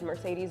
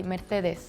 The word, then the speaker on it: Mercedes: like the Spanish version because the C you say very soft it's because I am